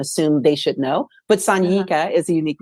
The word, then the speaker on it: Sanyika: But Sanyika, the spelling of it it doesn't match a European vernacular, so it's difficult to pronounce if you don't know. So yeah, it's Sanyika. Sonyeeka is how you phonetically spell it. But Sanyika is my name.